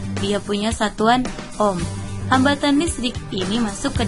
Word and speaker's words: ohm: Nah, ini simbolnya ya, ini simbol untuk ohm. Jangan bacanya OHM, tapi ohm.